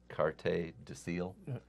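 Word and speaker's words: Carte du Ciel: pronounce the asset again I guess it's carte deil see you cut the SE the the S is silent in French um and the same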